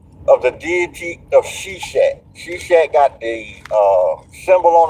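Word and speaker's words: Seshat: S H A No S H E S H A T.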